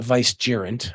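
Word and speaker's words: vicegerent: A vice jerant. Okay, that's how it's pronounced.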